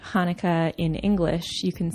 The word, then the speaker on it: Hanukkah: ways of pronouncing Hanukkah the first H is actually in Hebrew the letter het which is a little bit more throaty it comes from the